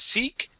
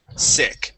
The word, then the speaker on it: sick: up is sick okay practicing the short eye instead of seek sick try that sick there